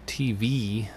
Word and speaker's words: TVii: Our first story is that of Nintendo Tvii, or Tvii is how it's pronounced.